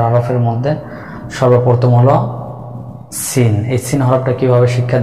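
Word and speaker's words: سين: যে সিনটা জিপার আগা, সামনের নিচের 2 দাঁতের পেট ও আগার সঙ্গে লাগিয়ে পাতলা আওয়াজে উচ্চারণ করব, 4 আলিফ পরিমাণ টেনে। Scene scene scene.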